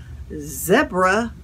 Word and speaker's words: zebra: world that speaks english calls it a zebra rhymes with deborah uh anyway here's a